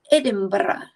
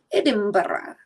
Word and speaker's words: Edinburgh: in Scotland and it's not pronounced Edinburgh it's pronounced Edinburgh Edinburgh it is pronounced over in Scotland that he